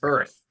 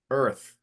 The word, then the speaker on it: earth: so you kind of go a but it's Earth so it's it's more earth almost like there's no a there so almost